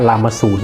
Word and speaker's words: รามสูร: ราม และ ก็ 0 นำ หน้า จะ อ่าน ว่า รามสูร นะ นะ ครับ ผม